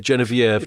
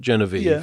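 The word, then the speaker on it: Geneviève: Brian Bedford genv Paige do we pronounce her that way Paige I think yes yes and we go with genv not genev if you like yeah yes Genevie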